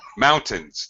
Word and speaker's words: mountains: thing I didn't like please mountains not mountains first syllable stress mountains there's beautiful mountains mountains the second syllable is unstressed mountains yeah very difficult